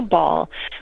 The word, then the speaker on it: bawl: right right a cow ball which is um it's spelled b b-a-w-l so like a like somebody's bawling right yeah and it's that